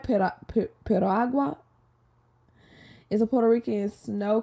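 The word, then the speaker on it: piragua: agua is a did I say it right pero agua is a Puerto Rican snow cone they have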